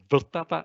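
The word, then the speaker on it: Vltava: river in the middle the river called either vertaba in czech if you want to try some czech pronunciation or moldo moldovia moldova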